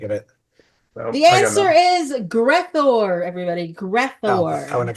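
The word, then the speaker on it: Gre'thor: The answer is Grethor, everybody. Greor, I would have got that. That doesn't have nearly enough syllables in it.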